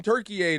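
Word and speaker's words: Türkiye: Well, Turkish people want you to call him Turkey a now.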